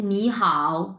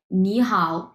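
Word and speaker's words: 你好: শুধুমাত্র উচ্চারণের ক্ষেত্রে আমি এখন যে গ্রামারটা বলতেছি আচ্ছা এই নি হ্যা এটাকে আমরা বলব হচ্ছে দুই নাম্বার টন বলব এইযে দুই নাম্বারট এবং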